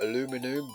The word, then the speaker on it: aluminum: I know it's spelled aluminum, but I was brought up to say aluminium.